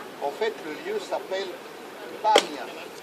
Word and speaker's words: Banias: En fait, le lieu s'appelle Banias. Comme pendant très longtemps ça a été occupé par une population arabe, et que les Arabes n'arrivent pas à prononcer le P, ils ont appelé ça Banias.